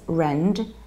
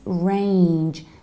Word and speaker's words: range: only in Real Estate's it's not price range as I usually hear but its price range there is a like in the word of rain rain range range price range and